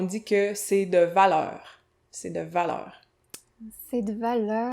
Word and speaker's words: c'est de valeur: C'est de valeur. C'est de valeur. Prononcer « c'est de valeur ».